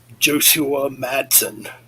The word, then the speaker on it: Josua Madsen: So, yes, rest in peace to Jim Durkin and I'm going to mess up pronouncing this again. Josua Madsen.